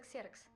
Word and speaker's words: Ксерокс: О, это греческий. Произносится ксерокс.